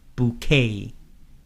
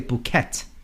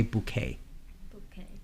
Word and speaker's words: bouquet: of it is different usually French words they don't pronounce the end of the word or the last consonant the T at the end for example they won't pronounce that so we'll say bouquet notice there's no -